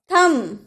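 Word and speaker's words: thumb: थम, थम बोलते हैं, थंब नहीं बोलते हैं, थम, थम यानी कि अंगूठा।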